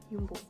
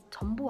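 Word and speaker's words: Jumbo: 그래서 큰 4개 마트 하면은 리들, 알디, 알버타인, 윤보. 전보 아니고 윤보예요. 왜냐면 네덜란드에서는 J를 R로 발음을 해요. 그래서 전보가 아니라 윤보.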